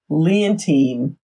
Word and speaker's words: Leontine: This name, it's Leontine.